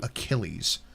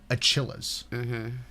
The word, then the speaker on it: Achilles: said it wrong yeah the answer was mythical hero Achilles and he said mythical hero achillas which is how it's spelled it's how it's spelled and they said